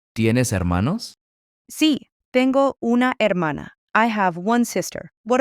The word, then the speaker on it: hermana: Brother is hermano, and sister is hermana. Remember that silent H at the beginning.